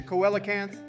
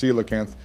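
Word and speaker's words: coelacanth: look it's raining so we can catch a Coan Donald you dumbass it's pronounced seakan and also when did you suddenly become so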